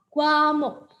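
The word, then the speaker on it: 과목: Yang ini dibaca gua, yang ini dibaca muk. Jadi tulisan ini bacanya adalah guamuk.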